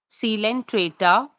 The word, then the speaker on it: Coelenterata: All the phylums are given to you in the ascending order and they should be pronounced as Porifera, Coelenterata, Ctenophora, Platyhelminthes, Escalminthes, Annelida, Arthropoda, Mollusca, Echinodermata, Hemichordata, Chordata.